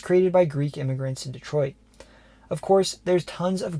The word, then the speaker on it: Detroit: The pronunciation of the city itself is a topic of debate. While most Americans tend to pronounce it Detroit, locals often say the name of the city as Detroit.